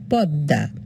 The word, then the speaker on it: পদ্মা: এবার ম ফলা পদ্মা আমরা কিন্তু দর নিচে ম লিখেছি কিন্তু আমরা উচ্চারণ করব পদ্মা মোহাম্মদ ময় ম দ